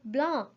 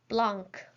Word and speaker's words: blanc: that green jose remembering not to pronounce the c at the end of blah i hope you guys didn't pronounce blanc black well then for